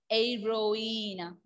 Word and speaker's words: héroïne: H will be silent. That is why I pronounced Aira. Aeroina.